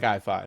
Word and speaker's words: IFI: I like I5. That rolls off the tongue pretty nicely. So we'll solidify it here. It's pronounced All right. I5.